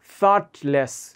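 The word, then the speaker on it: thoughtless: হাউ থটলেস of meet থট বানানটা দেখেন এই জিএস এর উচ্চারণ হবে না থটলেস থটলেস থট মানে চিন্তা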